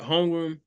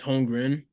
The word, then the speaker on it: Holmgren: The M is in the middle and the N is at the end. Yeah. I remember that when I spell it, but when I say it, I still say Holmgren.